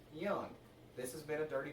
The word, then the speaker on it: Jung: I said at Greenville Drive, Josh Young's last name is pronounced Young.